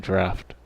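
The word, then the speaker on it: draught: Why is it spelled like drought, but then it keeps saying draft?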